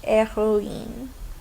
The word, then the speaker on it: héroïne: But the H in héroïne is silent. We don't pronounce the H, héroïne.